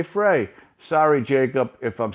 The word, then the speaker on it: Frey: Some say it's Fry. It's spelled Frey, so I'm going to say Frey.